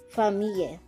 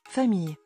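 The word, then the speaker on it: famille: which means family here double l is pronounced like y again for me let's listen for me for me letter j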